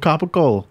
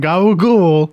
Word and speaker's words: capicola: So gabagool is just a You can go to an it's just a Italian mispronunciation of capicola.